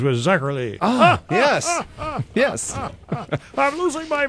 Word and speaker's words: Zacherly: Hubberly rhymes with Zacherly.